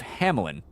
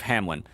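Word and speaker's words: Hamelin: pi Piper of Hamlin now it sometimes it's spelled with an i between the L and the N but you kind of pronounce it with an I even though there isn't one there anyway but I've also seen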